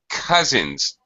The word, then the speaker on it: cousins: small things here one cousins I know it's an OU so it looks like cow or cow or some kind of sound like that but it's actually a